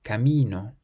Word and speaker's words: camino: So again, it ends in a vowel, meaning we stress the syllable before last, camino.